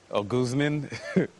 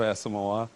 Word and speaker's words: Asomugha: one that i got somebody called me um guzman instead of asking moa you know like what